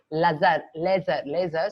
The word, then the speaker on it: LZR: So what basically it is called laser. So otherwise they spell it as LZR razor.